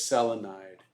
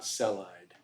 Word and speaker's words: selenide: sulfide chloride selenium is the only exception on the on the first syllable rule so it's selenide not celide right so that's that's why